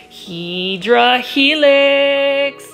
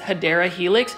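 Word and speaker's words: Hedera helix: you in the way I pronounce hedra Helix that's really a running joke among um all of the plant foldies um for some reason you guys like me saying that and so I'm going to continue to say it incorrectly the correct way to say English ivy is hadera Helix now this is an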